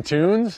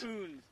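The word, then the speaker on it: Kunz: Weston Toons? Coons. How do you spell it? K-U-N-Z.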